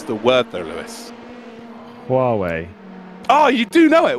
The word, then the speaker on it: Huawei: Can you pronounce the word though, Lewis? Huawei.